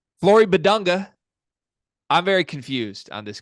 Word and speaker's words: Bidunga: Flory Bidunga. I'm very confused on this kid. Cart, can we talk about it? First of all, am I saying Bidunga correct? Bidunga. That's how I pronounce it.